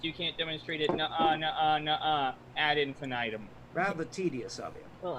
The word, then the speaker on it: ad infinitum: And it's actually pronounced ad infinitum because there is not an I, it's an A. Hmm. Americans tend to throw an A in there because of how we spell infinite, Look, but we're in